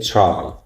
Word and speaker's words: try: Try can you say try? Try it out. Try. It sounds like chip, but you don't say chai. You say try. It's between t and ch sound.